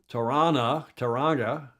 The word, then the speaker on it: Tauranga: called Baltic Spring, in Tauranga. You don't pronounce the hard G, up there, the big